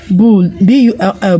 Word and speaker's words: bull: We have bull, B-U-L-L, bull. All right, now B-U-L-L, bull. Now the U in B-U-L-L is pronounced U. It has a short U sound.